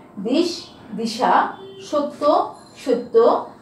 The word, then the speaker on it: সত্য: সত্য, সত্য কি আমরা এখানে কি উচ্চারণ করছি?